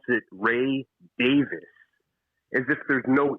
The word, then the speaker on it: Davies: that's the way that the guy actually pronounced his own name ray davis i was shocked so